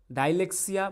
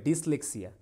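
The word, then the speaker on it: dyslexia: Rafia next কি বলছে what is ডাইলেক্সিয়া বা ডিসলেক্সিয়া সরি উচ্চারণটা কি হবে ডিসলেক্সিয়া তাহলে ডিসলেক্সিয়া কি ঠিক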